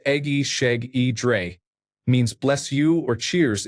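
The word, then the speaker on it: Egészségedre: Ijesagidra, pronounced Egi Sheg E Dre, means bless you or cheers in Hungarian.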